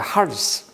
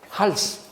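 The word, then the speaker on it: ἅλς: 할스. 이게 헬라말로 할스라고 읽습니다. 여러분들이 헬라말은 그냥 그대로 읽으세요. 내가 한글로 할 테니까. 할스.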